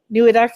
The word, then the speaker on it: Neweduk: one and only Neweduk. Do I say it right? Neweduk, is that right? Okay, good.